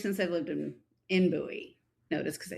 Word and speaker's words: Bowie: You're in Bowie?